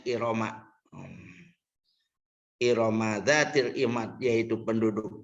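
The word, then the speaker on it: إرم: Waman usor pilil alamiyati wa ta'nisi, dan dicegahnya tanwin karena alamiah dan muannas, dibacanya Iroma.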